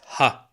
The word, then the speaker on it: هاء: of the Arabic alphabet pronounced ha exactly like H is pronounced mostly now as for the